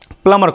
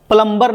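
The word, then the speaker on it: plumber: तो इसका स्पेलिंग होता पी एल यू एम बी ई आर प्लमबर नहीं पढ़ते हैं। इसको पढ़ते हैं प्लमर। इसको पढ़ेंगे प्लमर। है ना? एम के बाद बी आए तो बी क्या हो जाता है? साइलेंट हो जाता है। तो इसको हम लोग पढ़ते हैं प्लमर। प्लमर आता है।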